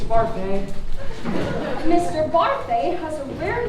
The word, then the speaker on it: Barfée: Mr. Barfy. It's Barfay.